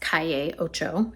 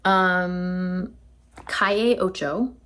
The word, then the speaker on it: Calle Ocho: I think it's actually pronounced Calle Ocho, if we want to be correct in our Spanish pronunciation, which I feel like I need to be considering I'm moving to Costa Rica next month. Calle Ocho, it means 8th Street.